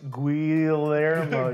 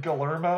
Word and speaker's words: Guillermo: any of them hard that's actually pronounced guillermo you learned it galermo look at dylan's face